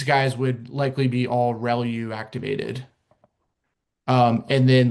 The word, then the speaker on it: ReLU: Um the the way you pronounce this is called relu. Um, so relu, re LU, usually how you'll hear that pronounced, relu.